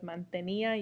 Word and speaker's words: mantenía: So instead of mantenía, you would get mantenía, mantenía. It would blend. It would be a diphthong versus a hiatus. So having that accent makes it into two distinct syllables, ia, ia, whereas without the accent, it would go ya.